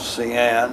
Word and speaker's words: Hsian: moved forward to a place called cyan and that's spelled hsian and up there we